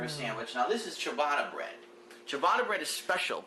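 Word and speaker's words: ciabatta: oh he's actually right chabata okay he's like I call it cabata but that's called chabata all right he's correct my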